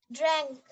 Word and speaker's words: drank: Drang, Pak. Drang. Malam lalu ya? Drang? Really? Drang? Coba adanya. Betul nggak drang? Adanya. Betul nggak? Betul, drang. Pakai U. Drank. Drank ya. Dibacanya drank.